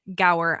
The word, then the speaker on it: Gower: guest on today and his name is Brian go I hope I did not completely like just